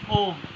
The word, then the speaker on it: ओम: ओम में 2 अक्षर होते हैं, ओ और माँ. ओ पर कम समय देंगे, माँ पर ज़्यादा समय देंगे. माँ की आवाज़ नाक से पैदा होगी, वाइब्रेशन को ब्रेन में